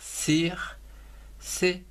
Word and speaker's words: circuit: Ou encore, alors, un circuit, C-I-R, cir, C-U-I-T, circuit. Donc avec ces fameux T qu'on ne prononce jamais.